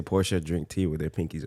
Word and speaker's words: Porsche: porsche guy i mean i know that the right way to say it is porsha but i am also american so i tend to just say porsche and i also like